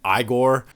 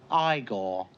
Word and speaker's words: Igor: The whole cast is great, but I also wanted to highlight Marty Feldman as Igor. No, it's pronounced Igor.